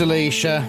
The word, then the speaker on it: Alysia: position at the herald Alysia uo it's pronounced Alicia one of my most